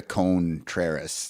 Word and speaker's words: Contreras: Yeah, he definitely hits the Contreras. Yes. Like, and that is what the pronunciation guide says you should say.